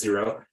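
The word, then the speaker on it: Xero: QuickBooks or zero uh xcro I think it's pronounced zero those are the two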